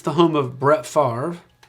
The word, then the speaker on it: Favre: Number one, it's the home of Brett Favre, whose last name and spelling and pronunciation do not match.